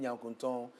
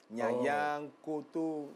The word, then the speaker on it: Nyankunton: And you tell them Nyankunton. They can't pronounce it. Nyanyang, Kutu, stuff like that.